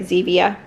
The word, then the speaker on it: Zevia: I think that's how you say it, Zevia, like stevia.